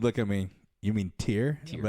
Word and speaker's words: TYR: This is actually from Tier. Yeah. It's a Tier swimming brief. Is that how you pronounce that?